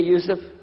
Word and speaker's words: Yusuf: itah my name is Yousef can you say Yousef said Yousef very good I wish you teach my wife she keeps mispronouncing it she calls me useless alhamdulillah now